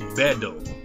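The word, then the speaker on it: ベッド: It's essentially not really all that different to how it's in English. It's pronounced bedo.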